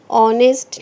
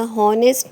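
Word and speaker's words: honest: देखिए second sentence में ऑनेस्ट लिखा हुआ है क्योंकि एच साइलेंट है। ओके, आपने यहाँ पर एच को नहीं पढ़ना है, यानी कि एच जो है वो जब आप प्रोनाउंस करोगे वर्ड उसमें नहीं आएगा। हॉनेस्ट नहीं बोलना, आपने ऑनेस्ट बोलना है।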